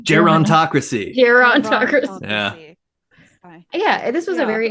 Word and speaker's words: gerontocracy: learned about, I'm already going to butcher the word, geriatocracy. That's not right. Gerontocracy.